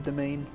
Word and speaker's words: demesne: to get used to calling it a domain even knowing that that's how you pronounce it it just doesn't feel right cuz it looks like demesne I mean just look